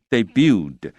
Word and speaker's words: debut: others claim 如何如何如何所以记住这个结构这个写作文的时候很好用。那另外我们回来看这个句子，他说另外还有一些人呢 claim 就是宣称，所谓的 claim 就是他不一定有证据但是呢他宣称是这样子。他说 it debuted 那这个字的发音要注意，那个 t 是不发音的所以 debut 然后那个的这过去式 debuted。